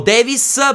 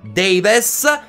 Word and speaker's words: Davies: dal primo minuto ovvero tom davies o davis per cercare di accorciare la pronuncia e renderla più semplice anche se correttamente si dice tom davies detto questo ci sarà